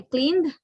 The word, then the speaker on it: cleaned: And when we say cleaned, the final sound is d, right? That means ud, d.